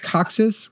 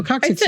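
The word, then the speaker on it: coccyx: Your That's not how you say it. How do you say it? Coxus. Coxix. No, coxix is right.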